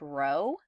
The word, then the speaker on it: rho: and alternative hypothesis and that symbol there is pronounced rho and um and rho is going to be